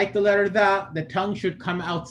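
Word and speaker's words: ظ: When pronouncing a Dha, the back of the tongue rises right here. And I mentioned this yesterday too, that this is the case with every single heavy letter. Any letter that's heavy, it requires the back of the tongue to rise.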